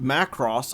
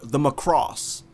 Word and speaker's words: Macross: weirdly enough it's so when i first watched macross i watched it through the adv dub which is apparently very weird to some people because in that dub they always pronounce the ship as the macross and so for years i said the macross